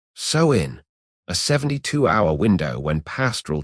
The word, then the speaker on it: Samhain: Anthropologists call the rite Samhain, pronounced so-in, a 72-hour window when pastoral tribes shut down the grazing season and reboot the cosmic ledger.